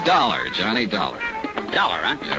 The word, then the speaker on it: Dollar: Dollar, huh? Yeah, it rhymes with collar.